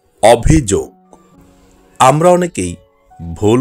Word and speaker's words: অভিযোগ: এখন থেকে সঠিক উচ্চারণটুকু করবো ফুল সঠিক উচ্চারণ অভিযোগ আমরা অনেকে কেই ভুল উচ্চারণ করে বলি অভিযোগ না এখন থেকে সঠিক উচ্চারণটি করবো অভিযোগ সঠিক উচ্চারণ ভিতরে আমরা অনেকেই ভুল উচ্চারণ করে বলি